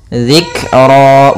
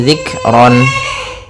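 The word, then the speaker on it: ذِكْرًا: Dzikra, bukan lagi zikron.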